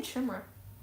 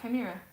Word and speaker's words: Chimera: we say that whoa is it Chima I was saying chimra wait is that actually how you say it kind wait well that makes me feel like an idiot is that seriously how you say it kir yeah Chima okay that's going to